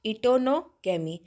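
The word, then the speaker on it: geitonogamy: बेटा आप ध्यान रखेंगे यहां पे जी साइलेंट होता है इसलिए इसको हम बोलेंगे टोनो गमी ऑटोमी मतलब है इन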